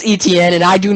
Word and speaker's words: Etienne: it pick number 25 the jaguars took travis eoteen running back from clemson oh please it's pronounced etn bro i don't care i've pronounced it like